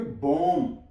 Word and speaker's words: bomb: BOMB, इसे पढ़ेंगे बॉम, B silent है।